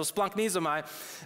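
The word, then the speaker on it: splagchnizomai: Like, you actually pronounced it right. They're Greek, and they actually use this word. I didn't even know that. So splunknizomai, it is this word that it takes compassion to a whole new level.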